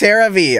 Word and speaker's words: CeraVe: What's the difference between CeraVe SA cleanser and CeraVe face wash acne treatment? It's pronounced CeraVe.